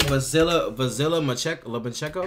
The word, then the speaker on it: Vasyl Lomachenko: Vasyl Lomachenko?